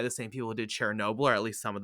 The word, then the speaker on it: Chernobyl: Chernobyl yeah Chernobyl no the first time you said it you were like Sharon Noble Sharon obla you know sure you